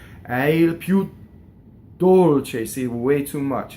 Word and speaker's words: dolce: any notes in Italian the word piu is a strong mono syllable and it will cause the D in Dolce to double C so we say Dolce now when you do